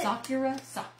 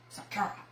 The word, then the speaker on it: Sakura: Sakura. Sakura.